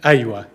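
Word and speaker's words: أيوه: different situation iowa but we just pronounce it softly instead of iowa we say aywa iowa in egyptian arabic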